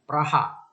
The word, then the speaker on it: Praha: ibukotanya di Hai Pras bahasa Indonesianya Ya dikasih hal dikasih alami supaya enak bacanya Praha APRA ini terletak di